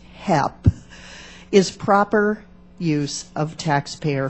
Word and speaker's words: HEP: Basic research, such as that which is funded through the Office of Science's High Energy Physics, also known as HEP, pronounced HEP, is proper use of taxpayer funds.